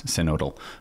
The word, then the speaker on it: synodal: kind of the German codal path or codal way um which is how you pronounce codal um because it's a single it's it's a vowel followed by a single consonant and then another vowel so that makes the